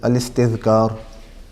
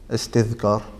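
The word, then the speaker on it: الاستذكار: The first is At-Tamheed and the second is Al-Istidhkar. Al-Istidhkar. So you can spell it maybe Istidhkar. Istidhkar.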